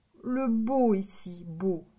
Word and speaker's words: beau: B, le beau ici, beau, c'est B-E-A-U. E-A-U, ça fait le son O.